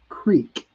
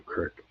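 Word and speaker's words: crick: and we spell it c-r-i-k but the real pronunciation is Creek but in Pittsburgh we call it the correct um and everybody knows this one from Pittsburgh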